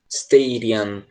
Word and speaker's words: stadium: perdendo e caso se você quiser ter uma pronúncia mais americana eles falaram eu provavelmente stadium sterian esse de ela acaba soando como r seja inclusive muito parecido